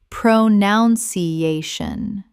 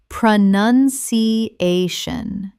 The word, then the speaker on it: pronunciation: Common mispronunciation, pronounciation. Correct pronunciation, pronunciation. Five syllables. Notice it is pronoun not pronoun. The word pronunciation does not contain the word pronounce.